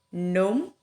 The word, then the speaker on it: gnome: Contohnya gnome. Jadi ini nggak dibaca gnome ya, karena kenapa? Posisi dari huruf G-nya ini ada sebelum huruf N ya.